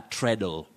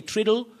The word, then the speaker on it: treadle: foot on a sewing machine is called a treadle treadle so don't say triddle don't say triaddle and any other pronunciation the next word that i'm having right